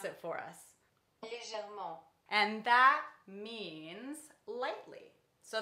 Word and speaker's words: légèrement: Google Translate is gonna pronounce it for us. Légèrement.